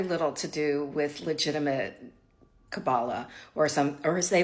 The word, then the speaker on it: Kabbalah: it has very little to do with legitimate Kabbalah, or as they pronounce it, Kabbalah.